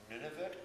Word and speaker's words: Nunavut: greenland nova scotia uh north and alaska uh nunavut i guess is how you say the new